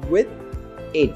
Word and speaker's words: within: E presta atenção na pronúncia aí também, tá? Que é com th, então é with in. Sendo que a gente não fala separado, fala junto, vai ficar within.